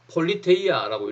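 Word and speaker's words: πολιτεία: 자, 경찰의 어원은요, 그리스어, 이걸 뭐라고 읽어야 되나? 자, 폴리테이아라고 읽으면 되겠죠.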